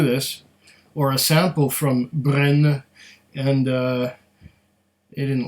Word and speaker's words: Brenne: is our bottle of berena or Gren I I don't I think this the second e is silent so there might be a little at the end I don't know but it's easy enough